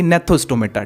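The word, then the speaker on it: Gnathostomata: जी यहाँ पर साइलेंट हो जाएगा, इसकी प्रोनाउंसिएशन हो जाएगी नेथोस्टोमेटा।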